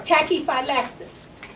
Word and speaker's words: tachyphylaxis: Next word, number 4, tachyphylaxis.